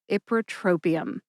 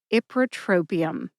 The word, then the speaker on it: ipratropium: Put that all together and you get Ipratropium. Emphasize ip and tro. Tro gets the most emphasis. Listen to the emphasis when I say it again. Ipratropium.